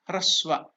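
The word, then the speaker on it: ह्रस्व: I am very sorry for that mistake. It is hraswa.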